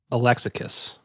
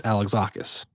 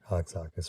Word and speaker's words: Alexakis: And like looking back on it now, I I pronounced it Alexakis. And it's Alexakis. Alexakis, right?